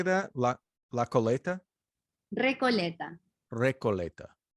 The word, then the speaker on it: Recoleta: how do you say that la la coleta recoleta recoleta how do you spell that r-e-c-o-l-e-t-a oh nice okay so we got